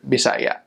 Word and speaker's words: Bisaya: refer to it as the Visayan language, or Bisaya, is kind of how they say it.